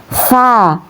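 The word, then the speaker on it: ث: Kemudian ini yang tsa cara bacanya ya tsa bukan sa ini yang sa ya.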